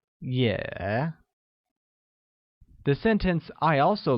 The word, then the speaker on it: 也: Also translates to 也, which is pronounced with a falling rising tone, like 也.